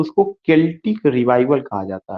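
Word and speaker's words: Celtic: His early poems can be used as an exponent to his concept of केल्टिक revival. ये भी question पूछा जाएगा, इसको सेल्टिक नहीं पढ़ना है, सी यहाँ पे का प्रोनाउंसिएशन करेगा, केल्टिक रिवाइवल।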